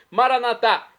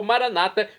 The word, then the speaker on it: Maranatá: E agora eu clamo do aramaico, dialeto de Jesus, Maranatá, como dizemos nós católicos, ou Maranata, como dizem nossos irmãos separados, os evangélicos ou protestantes.